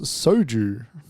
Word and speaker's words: soju: need to stop you how do you say the name of that liquid is it show jurors it show i think it's soju soju yeah there's no h in it